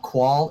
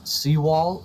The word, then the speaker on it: Seawall: I just got note that we've been saying it wrong. It's not Qual, it's Seawall. Apologies.